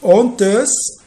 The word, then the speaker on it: honteuse: Toute honteuse, le H ici, c'est un H aspiré.